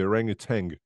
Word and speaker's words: orangutan: I don't know why it's pronounced with a G, but um, O Oh, outside. hang on. At the end, the orangutan, it's not a G at the end.